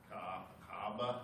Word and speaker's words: Kaaba: K-A-B-A, Kaaba. There's kind of a hiccup in the middle.